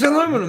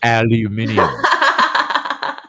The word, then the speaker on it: aluminium: No, it's aluminum.